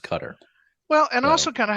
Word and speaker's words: Qatar: and in my opinion it should be pronounced cutter well and also kind